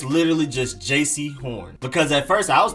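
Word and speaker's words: Jaycee Horn: horn it's literally just jc horn because at first i was pronouncing it like jc but it's jc nowhere near as much emphasis on the j part just jc not jc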